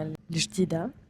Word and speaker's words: El Jadida: On fait notre première arrêt en gare de El Jadida, prononcé en darija El Jadida.